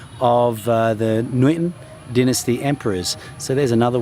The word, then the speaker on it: Nguyễn: Now you'll notice Nguyễn has what's called a dấu ngã, and ngã is pronounced, it kind of goes up and down, it's quite a dramatic one, and so you say Nguyễn, Nguyễn, Nguyễn, and this is where